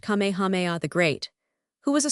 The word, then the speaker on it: Kamehameha: When Kamehameha, pronounced Kamehameha the Great, who was a sort of a